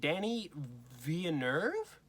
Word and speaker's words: Villeneuve: I think you pronounce it Danny Villeneuve is how you say it, but it's spelled Villeneuve. So I'm not really sure how to pronounce his last name.